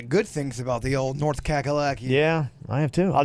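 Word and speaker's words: North Cackalacky: FYI the nickname for North Carolina is actually pronounced North kakalaki unfortunately I was raised in that [ __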